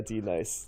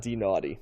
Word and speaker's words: Denis: biggest hits nice right like denise as you'd imagine it's spelled and yeah yeah d nice you know not that not d naughty so um they begin